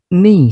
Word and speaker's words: knee: Contoh kedua adalah knee yang artinya lutut. Tidak perlu kita bunyikan huruf K-nya, cukup knee saja.